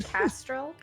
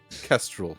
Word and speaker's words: Kestrel: Cameron, did you say you're a Castrol? Kestrel, like, Kestrel.